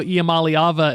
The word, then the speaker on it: Iamaleava: Nico Iamaleava is the greatest example of an good electric truck. Good pronunciation, by the way.